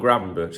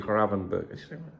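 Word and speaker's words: Gravenberch: Like I want to call him Gravenberg. That's it. But people say no, it's actually Gravenberg.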